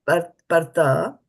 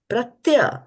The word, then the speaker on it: pratya: Again, not pratyavāyo, not partha, pratya. There's a y over here.